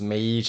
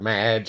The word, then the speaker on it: Mage: did confirm with one of the owners it's pronounced Mage I've heard Madge I've heard Maggie I've heard McGee so it's Mage so uh we'll go with